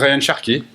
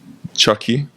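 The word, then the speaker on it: Cherki: Shaki. Chucky. Shaki. Shak Chucky. Shaki. Shi. Okay. Cuz I like to pronounce their name right. So Sherki, I'm not I'm not buying him to have him on the wings.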